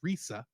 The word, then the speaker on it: Lisa: Lisa yes there is her name is Lisa although in Japan it would have probably been pronounced more as Risa Risa yeah was played by